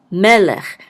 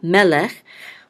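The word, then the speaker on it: מֶלֶךְ: This shava again is silent, so this is lech, melech, and the accent mark is on the first syllable, melech, which is usually the case when there's 2 sagols next to each other.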